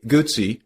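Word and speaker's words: Guzzi: Grand Prix racing today guts pronounce it like pizza is best known for their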